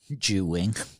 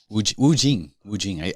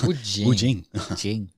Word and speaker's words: Wu Jing: Ju Wing. Wu Jing. I said it wrong twice. Wu Jing.